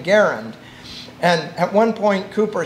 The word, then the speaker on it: Garand: say nice grand and i said well actually pronounce his name garend and at one point cooper says you keep